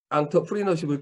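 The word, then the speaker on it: entrepreneurship: 자, 조각난 나노 사회에서 개인을 지키기 위해서 우리는 앙터프리너십을 키워야 된다고 얘기해요. 이게 뭐냐? 자, 이게 뭐 프랑스어로 발음하기 때문에 이렇게 표현을 하는데요.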